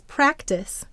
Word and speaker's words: practice: Why did we add a silent final E to practice? To make the C say its soft sound.